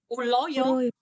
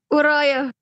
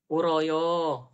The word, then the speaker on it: 울어요: Uloyo. Dapat dari mana kamu uloyo bacanya? 울어요. Uroyo. L itu hanya bisa dibaca L jika L-nya ada 2. Kalau satu itu tetap R.